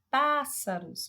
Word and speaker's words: pássaros: E na letra C, pássaros, você vê que o pá se destaca mais do que as outras sílabas.